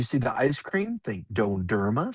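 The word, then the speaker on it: dondurma: So, what's left is donerma. So, when you see the ice cream, think donerma.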